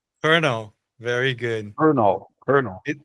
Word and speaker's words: Colonel: Você lembra como é que pronuncia? Colonel. Colonel.